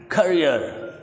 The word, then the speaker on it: career: Selecting the right करियर, सी जो है करियर हम आराम से कह जाते हैं, लेकिन पफ कम्स आउट। आपको पता है ये कॉन्सोनेंट है, अंग्रेज जब भी इस कॉन्सोनेंट प्रोनाउंस करते हैं पफ कम्स आउट। तो यहाँ आपने देखना है करियर। आर मैंने ब्रैकेट में किया है क्योंकि ब्रिटिश पीपल आर को स्किप करने का इंटेंशन रखते हैं। अमेरिकन को प्रोनाउंस कर देते हैं करियर।